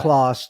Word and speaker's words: Clos: connected, yeah, backbone, from I forget the right. the scientist's name, CLOS, but it's named after him. Yeah, but anyway, so just want to Clo, make I sure think everyone kind they of pronounce it following along.